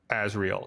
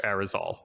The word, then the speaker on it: Arizal: I keep wanting to say Azrael instead of Arizal. that's so good. Like every time I'm like, nope, I'm saying it wrong.